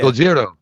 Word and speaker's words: Gojira: Are you talking about the actual Japanese pronunciation of Godzilla? Yeah. Gojira. Goyer.